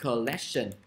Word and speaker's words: collection: Ok, rồi điểm có danh từ collection, nhớ đọc là collect, nhấn vô âm tiết thứ hai.